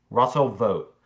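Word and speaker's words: Vought: Russell vote is so wrongly obscure that his name is commonly mispronounced. It does not rhyme as it appears that ought to with ought as in Russell va vote ought to be public enemy number one or with wrought as in vote vote has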